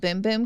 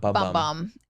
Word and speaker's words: Bum Bum: And they told me it's called Boom Boom Cream, not Bum Bum.